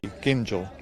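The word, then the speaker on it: Gingell: a pro Freddy Ginger ginel I've got to get this right start with a hard G gel um it's in it's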